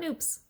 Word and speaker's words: nupp: Let's talk about Nupps. Nupp is an Estonian word. It's spelled N-U-P-P, pronounced like soup, and it means bud, like a little baby flower.